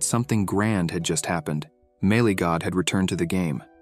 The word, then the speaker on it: Melee God: this player was and couldn't even pronounce the name, asking his employee who Mailgoat was. The man clarified that the pronunciation was Melee God, the perfectionist.